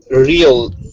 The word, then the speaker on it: real: words real okay but when you pronounce the word real alone real the opposite of imagination right uh r-e-a-l real yes yes uh it has a different pronunciation yes it does it's uh one syllable so a long e a long e sound like sheep real real real real